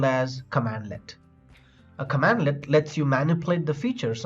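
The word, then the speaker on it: cmdlet: In PowerShell, commands are called as commandlets, pronounced as command-let.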